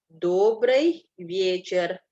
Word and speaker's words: добрый вечер: Добрый вечер. Penekanannya di O yang pertama dan di Y yang pertama.